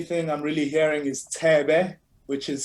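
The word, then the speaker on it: Thebe: seven the only thing i'm really hearing is te be which is spelt t-h-e-b-e he's a legend quite a legend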